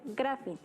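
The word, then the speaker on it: γράφειν: Bio, que significa vida, y grafía, que viene de un verbo griego que se pronuncia grafin y significa escritura o escrito.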